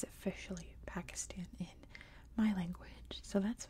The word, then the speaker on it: Pakistan: just a quick note I always use American English pronunciations and in American English it's Pakistan I know in pretty much every other form of English and in many other languages it's Pakistan like I know I